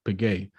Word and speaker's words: Piguet: but uh audemars piguet piguet this is how you pronounce it but like the reason